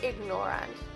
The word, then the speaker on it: ignorant: Sound the G in ignorant.